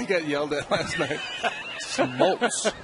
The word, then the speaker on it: Smoltz: Smoltz. It's Smoltz. It's not Schmaltz.